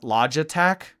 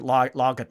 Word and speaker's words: Logitech: Log logitech.